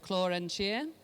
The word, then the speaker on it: Clò An Tìr: I'm a bespoke designer based in Glasgow and I'm here today to talk about a project called Chloren Cheer. So that's how you pronounce that.